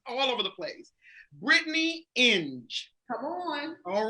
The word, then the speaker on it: Inge: So it's Inge, as in binge, as she said.